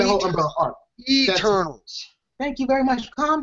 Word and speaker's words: Eternals: also the Kree is part of the whole Internals. I mean, Internals as well. I'm sorry, I'm gonna say that name wrong again. Internals as well is part of the whole umbrella arc. Eternals.